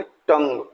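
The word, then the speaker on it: tongue: करना है next वन टी ए जी यूई तो इसको टंग यू नहीं बोलना है इसको बोलेंगे टंग next ji यू आई एल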